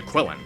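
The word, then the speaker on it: Qilin: creatures normally named the quillin although their name is pronounced and spelled differently depending on what version you're referring to quillin in Chinese Kieran in Japanese and so on I really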